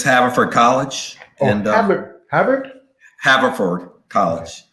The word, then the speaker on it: Haverford: pronouncing this. What's the name? That's all right. It's Haverford College.